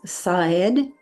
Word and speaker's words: Szaed: The proper way to pronounce his name is Szaed, but when said casually, a bit more rapidly, it sounds like the word said, like he said, she said.